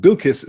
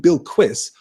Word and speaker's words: Bilquis: I pronounced it Bilquis for years and years and years, but then I have heard the liquid U being used, so it's almost a Bilquis.